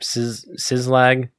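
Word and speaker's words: Szlag: Sizlag. S-Z-L-A-G. Slag. So, Slag? Slag.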